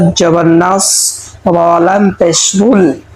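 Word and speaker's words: نصر: হি নাসরুল্লাহি প্রিয় দর্শক নাস এখানে আমরা সদকে মোটা করে পড়ব যদি আমরা এখানে চিকন করে পড়ি তাহলে সতের জায়গায় সিন হয়ে যাবে উচ্চারণ শুদ্ধ হবে না নাস পড়বো না আমরা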